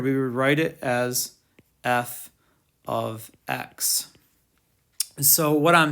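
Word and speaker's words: f(x): operates on x and we pronounce it we pronounce it f of x um so all right this is just matt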